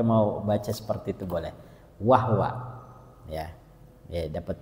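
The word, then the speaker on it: وَهْوَ: Nah, ada awalannya wahwa, kita boleh baca wahwa, haknya disukunkan.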